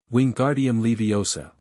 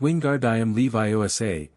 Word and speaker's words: Wingardium Leviosa: Wingardium Leviosa, he shouted, waving his arms like a windmill. You're saying it wrong, Harry heard Hermione snap. It's wingard. I am Levi Osa. Make the gar nice and long.